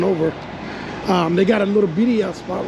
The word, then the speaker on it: birria: Is it birria style? How do you pronounce it?